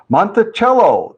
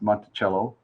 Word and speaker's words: Monticello: i believe it's pronounced monticello uh just like the musical instrument right cello right didn't that spell